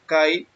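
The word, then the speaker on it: καί: La palabra también es la G2532, se pronuncia Kai, y significa y también, aún, entonces, también, de la misma manera y en verdad.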